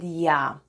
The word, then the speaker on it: Я: And the last letter of the alphabet is Я. It looks like an English letter, but flipped around. Я makes sound Я. Try saying English Ян, and you get sound Я.